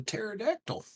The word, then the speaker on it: pterodactyl: it is but yeah there's a pterodactyl that there are there's a silent P but yeah oh I